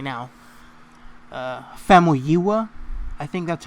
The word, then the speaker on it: Famuyiwa: Famuyiwa. I think that's how it's pronounced. Rick Famuyiwa.